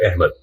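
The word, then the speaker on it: احمد: जैसे कि लफ्ज़ अहमद है, उर्दू में अलिफ के ज़ेर और मजहूल आवाज के साथ बोला जाता है अहमद, हालांकि असल लफ्ज़ जो है वो अहमद है।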